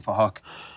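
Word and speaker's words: Phuc: We're spelt with a PH, so it sounds like Fahok.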